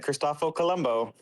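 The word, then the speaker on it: Cristoforo Colombo: Yeah, but his real name, how do you pronounce it? Kristoff. Okay, Christopho Columbo.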